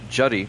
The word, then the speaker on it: Judy: will be Judy Johnson I believe he pronounces that Judy Judy Johnson the second baseman not Judy that's a girl name Judy Johnson one out